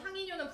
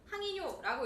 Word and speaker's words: 항이뇨: 물론 항인뇨는 붙여서 쓰긴 하지만 여러분들 읽을 때 항이뇨라고 읽지 말고요. 항인뇨 호르몬이라고 읽어 줄 건데.